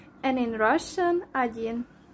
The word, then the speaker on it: один: 1 is egy in Hungarian, egy, and in Russian agyin.